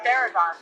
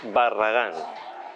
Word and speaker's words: Barragán: I think it's Luis Paragon.